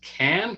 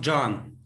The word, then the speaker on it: Can: do you pronounce it can con no it's pronounced john john see now i would never have guessed that well the c is a j in turkish thank you john and